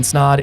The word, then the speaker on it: Snod: My name is Snod. It rhymes with odd, and I'm out.